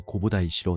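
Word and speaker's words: 弘法大師: 이후 942년 다이고 덴노는 국하이에게 홍법대사라는 시호를 내렸고 이는 일본에서는 홍법대사의 일본어식 발음인 고보다이시로 널리 알려지게 되었습니다.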